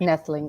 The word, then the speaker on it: Noethling: Noethling. The O is silent.